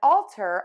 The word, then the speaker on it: alter: We have two words today that are pronounced exactly the same, but they have different meanings and different spellings.